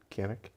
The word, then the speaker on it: Cannock: Cannock.